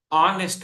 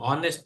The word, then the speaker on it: honest: w sound for example honest man means it is o h is silent right you know honest in honest H is silent so the O comes